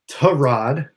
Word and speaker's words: Tyrod: But it is Tyrod Taylor will be You got to say it right. It's T-U-H. Yeah, if you watch Hard Knocks, it's Tyrod, not right. Tyrod.